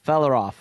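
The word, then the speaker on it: Fréaláf: So Of the the Meras, the yeah, Felaroff. Felaroff is how you pronounce that.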